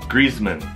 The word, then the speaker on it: Griezmann: For example, Griezmann. In Chinese, it's 4, but in English, just 2. Griezmann, Griezmann.